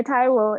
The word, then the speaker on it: Taiwo: Taiwo is my cultural native name, and which has to be pronounced with an accent because it's Nigerian.